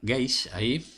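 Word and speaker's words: gauge: pie de página gays el término gays se pronuncia gays este significa medida o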